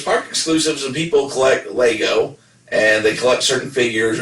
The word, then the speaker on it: Lego: people collect lego or i always say legos but like nevada it's pronounced lego so you don't pronounce